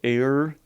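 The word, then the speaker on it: Aer: so it was called air memories of old and air is spelled a-e-r just you know had to be a little weird like that so give it up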